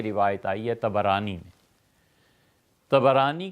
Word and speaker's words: طبرانی: آئی ہے طبرانی میں۔ طبرانی کا اصل تلفظ یہی ہے، طا پر بھی زبر ہے، با پر بھی زبر ہے، طبرانی۔ طبرانی رحمۃ اللہ علیہ